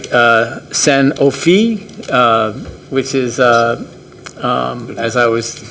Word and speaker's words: Sanofi: And I'll get this right, Sanofi, which is, as I was told I pronounced it correctly, did their groundbreaking, which is